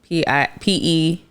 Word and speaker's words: Piry: Petey. Oh, so I'm not wrong. You're not wrong. But are you guys actually saying PD? PD, no. Oh. It's like the spelling and the sounds is different.